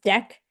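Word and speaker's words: deque: So there's something called a d e qu q u e and that is pronounced a uh it's pronounced deck and that just means it's a double-ended Q.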